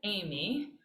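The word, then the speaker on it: εἰμί: the very beginning it's just like the woman's name you pronounce it amy and this is the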